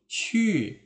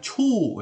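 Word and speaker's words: 去: Kalau lupa ingat kembali di video Lao Shi tentang Hanyu Pinyin ya, ini bacanya qu bukan cu ya. Nah, bukan dibaca cu atau ku ya, salah.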